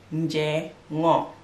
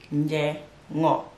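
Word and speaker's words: njengo: So squash in Mandinka language is said as nje ngo, nje ngo. Basically it's together, but for pronunciation I'm just gonna say that nje ngo.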